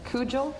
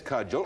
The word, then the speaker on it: cudgel: like to pick please if I can pronounce it Cujo that's cudgel or Cujo if you say